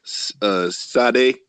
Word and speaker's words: Sade: My baby said Sade.